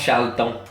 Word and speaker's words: Charlton: prononce Charlton.